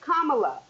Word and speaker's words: Kamala: is play those games and her name is kamla didn't I tell y'all didn't I tell y'all the consistent mispronunciation the vice president of the United States